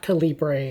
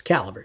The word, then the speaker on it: Calibre: Okay, and it's not Calibre, it's Calibre, just like the English word caliber, slightly different spelling.